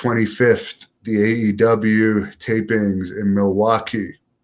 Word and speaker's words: Milwaukee: August 25th, the AEW tapings in Milwaukee. or Milwaukee, as they said in Wayne's World, is the proper way that the Indians used to pronounce it.